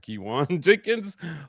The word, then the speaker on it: Keyone Jenkins: And yes, that's how it's pronounced. Kiwan Jenkins.